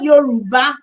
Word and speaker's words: Yoruba: Typical Yoruba. Yoruba name. Yoruba is spelled Y O Y O R U B A.